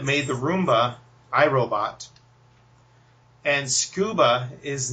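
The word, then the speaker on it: Scooba: same company that made the Roomba iRobot and scuba is not spelled the normal way it's spelled SC o ba so if you're searching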